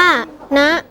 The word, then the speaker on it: ณ: ใจ ความ รู้ ด้วย คำ ว่า นะ อ่าน ว่า นะ หมาย ถึง ใน ที่